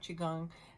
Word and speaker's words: Qigong: Qigong, I always talk about Qigong, and that is spelled Qi, one word, second word like gong, Gong, Qigong.